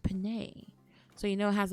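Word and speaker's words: penne: If it was just pronounced pen, I would have been like, nah, that's basic. But it's pronounced Panay, so you know it has a little pizzazz to it.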